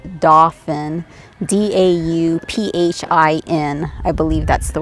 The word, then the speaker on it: Dauphin: bits dolphin horsemanship and it's not dolphin like the fish it's dauphin d-a-u-p-h-i-n i believe that's